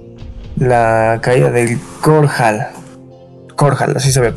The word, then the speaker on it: Korhal: Korhal, así se había pronunciado.